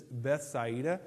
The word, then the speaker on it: Bethsaida: The actual pronunciation of this is Bethsaida. I'm not going to say that. Bethsaida is what I'm going to say.